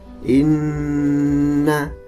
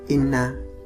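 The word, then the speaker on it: إِنَّ: seperti contoh Inna ama cara membacanya ditahan Hai Inna tidak cukup Ina harus ditahan ama tidak cukup ama tapi harus ditahan Coba kita perhatikan pada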